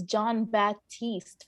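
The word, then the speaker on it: Jon Batiste: Mank, and also Trent Reznor, Atticus Ross, and John Baptiste, I apologize, in Soul. So I saw two of these movies. I think it's John Baptiste from Stephen Colbert.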